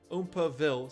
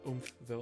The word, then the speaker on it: Oompaville: that oil Ooma Bill oompaville sorry not oille I've been saying it wrong this whole time let me know if